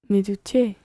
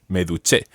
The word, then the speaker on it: duché: Okay, now just double check the stress there. How do you say I showered myself? Me duché. Me duché.